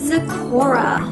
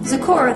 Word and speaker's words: Zecora: then we have oh boy am i gonna pronounce this right let's check it out it is zakora zecora the magical mentor love the earring check out